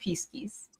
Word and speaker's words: Pisces: Well, in Latin, it is pronounced Pisces.